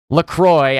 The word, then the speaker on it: Lacroix: LaCroix, I know that's how they pronounce it because they're very Americanized, but I am French Canadian. I say Lacroix.